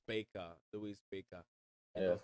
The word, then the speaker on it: Baker: It's Baker, Louis Baker. You Yeah. know, sometimes the way it's A over it's B A. You may think it's a Baka because from where I'm coming, we'll pronounce it Baka.